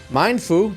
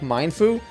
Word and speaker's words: Mienfoo: active and fierce like Mindfu. So yeah, I think we're gonna go with the I think it's Mienfoo actually how you pronounce this.